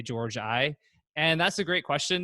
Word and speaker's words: Georgi: that Nate Goddard asks why does everyone pronounce my last name Georgie when you clearly say George I and that's a great